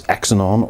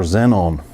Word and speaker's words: Xenon: You can either pronounce this XAnon or Xenon.